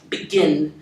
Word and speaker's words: begin: With a verb like begin, begin, the sound on the on the second syllable is the I sound, begin.